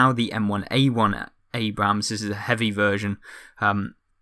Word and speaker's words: Abrams: Abrams, I should say. Someone noted that the second A you don't pronunciate or something like that.